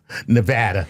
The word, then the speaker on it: Nevada: Jared Higgby from Alamo, Nevada. He says, "Hello, Dr. Tyson Lur Chuckles." You even said it right. Nevada. That's how they say it locally.